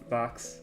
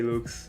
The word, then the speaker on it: Lux: pronouncing your name looks even if it should be pronounced Lux but I'm too used to say looks and every time I